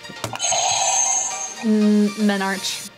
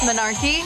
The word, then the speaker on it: menarche: Pronounce this word. Menarch. Incorrect. Menarch. Oh, you went the opposite way. Menarche. Menarch. No. Menarch? No. Menarchy?